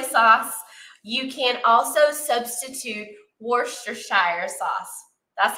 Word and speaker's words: Worcestershire: don't have soy sauce you can also substitute Worster Shire sauce that's how I pronounce it I um anybody you know you